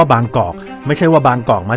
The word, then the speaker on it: บางกอก: ดี ๆ มี คน มา บอก ว่า บาง กรอบ เนี่ย ต้อง ออก เสียง ว่า แบงค์ ตาม สำเนียง ฝรั่ง เนี่ย ไม่ มี ใคร เขา ทำ กัน หรอก ครับ เพราะ ว่า Bangkok มัน มา จาก คำ ว่า บางกอก ไม่ ใช่ ว่า บางกอก